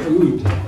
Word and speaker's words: oud: This instrument is called the oud. It's spelled in English, O-U-D, rhymes with food.